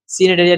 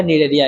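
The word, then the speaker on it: Cnidaria: अब सिलेंट्रेटा को एक और नाम बोलते हैं, क्या आपका, नीड एरिया, जिसमें सी आपका साइलेंट है, सी नीड एरिया नहीं बोलेगा, नीड एरिया है केवल।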